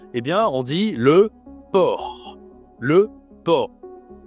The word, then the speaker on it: porc: Bon et bien on dit le port. Le por, il y a un c à la fin mais tu ne prononces pas le c.